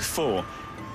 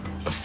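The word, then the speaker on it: pho: love but can't pronounce they pronounce it full and it's supposed to be F love fax soups it's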